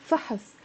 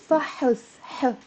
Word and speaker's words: فحص: فحص, فحص. It's a one syllable word. فحص. And it means a test. فحص. But if I put the فتحة, فحص, there's a ha. فحص, it becomes two syllables.